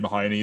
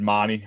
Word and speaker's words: Mahoney: Obviously, Reed Mahoney there. I think, Reed Marnie, I think it's pronounced.